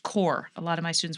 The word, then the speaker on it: Corps: CORPS, but pronounced core. A lot of my students will always say corpse.